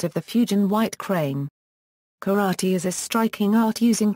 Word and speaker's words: 空手: In this era of escalating Japanese militarism, the name was changed from Ipermel to Ipermel Euro, both of which are pronounced karate Euro to indicate that the Japanese wished to develop the combat form in Japanese style.